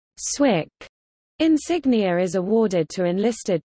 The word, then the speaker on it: SWCC: Warfare combatant craft crewman SWCC pronounced Swick insignia is awarded to